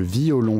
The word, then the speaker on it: violon: On est donc obligé de décomposer violon en 3 syllabes au lieu de 2.